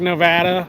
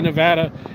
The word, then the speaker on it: Nevada: But the correct way, just like Nevada, how we say Nevada, everybody else says Nevada. Nevada is correct, right? But Nevada is how we say it.